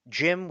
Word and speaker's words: GM: Jim, which is spelled GM, is the red and white thing.